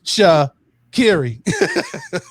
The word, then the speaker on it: Sha'Carri: she's come on and she actually had a little a little clip where she uh taught us all how to say her name it's cha kerry so man uh i